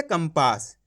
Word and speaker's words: कंपास: तरीका है अब देखो यहां पे का को ऊपर लगी हुई अनुस्वार की मात्रा उसके बाद वाला अक्षर कौन सा है पा ये रहा पा तो अपन ने यहां पे आधा मा का उच्चारण कर दिया कैसे कंपास आया समझ में अब देखो